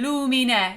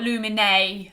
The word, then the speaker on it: lumine: And we'll leave that word wide open, lumine, not lumine, with a big turn, okay? I love these pure, simple, left open Italian vowels, okay?